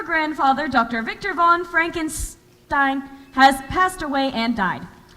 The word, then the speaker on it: Frankenstein: gram for Dr Frankenstein that's Frankenstein my name it's pronounced Frankenstein if you say so